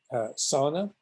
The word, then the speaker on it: sauna: going to more extreme sauna as the finns pronounce it was a sauna uh it's hot the